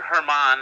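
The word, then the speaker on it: Germán: Domenico or Herman, I believe, is the right way to say it, and I should know that because he and I were in Scranton for the last few years.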